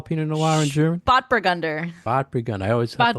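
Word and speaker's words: Spätburgunder: Spotburgunder.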